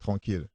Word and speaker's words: tranquille: Chilling, tranquille. Like tranquil, tranquille.